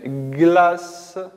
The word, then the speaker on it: glace: Après, glace. Glace. La lettre C suivie d'un E nous donne le son S.